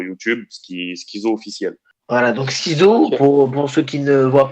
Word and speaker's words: SkiiZo: Alors on peut me suivre sur ma page Facebook Schizo officiel. Voilà. On peut me suivre sur Instagram Schizo aussi, Twitter pareil Schizo, et on peut me suivre aussi sur YouTube Schizo officiel. Voilà, donc Schizo, pour ceux qui ne voient pas, ça s'écrit